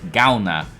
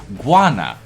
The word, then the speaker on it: Galna: No, me and Sliver have a mutual friend whose last name is Galna, but apparently everyone has somehow managed to pronounce her last name as Guana.